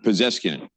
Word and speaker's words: Pezeshkian: The new Iranian president, whose last name I have a really hard time pronouncing. I had no problem with Ahmadinejad, but I have a hard time with Pezeshkian. Pezeshkian.